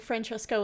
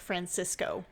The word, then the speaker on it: Francesco: They sometimes say it like Francesco and sometimes say it like Francisco. It's like in Star Wars when they call Princess Leia Princess Leia. Yeah. So I'm just going to call him Francesco because that is how it is spelled.